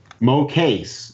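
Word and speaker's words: Mokase: Mo case.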